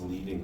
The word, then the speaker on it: leading: would probably still be referring to it as leading. I know it reads leading, but it's pronounced leading.